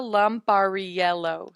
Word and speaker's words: Lampariello: Yeah, Luca Lampariello.